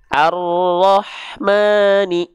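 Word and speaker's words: الرحمن: berubah jadi vokal O karena huruf ro ketika dia berharakat fathah itu harus dibaca dengan keadaan yang tebal ya huruf ro itu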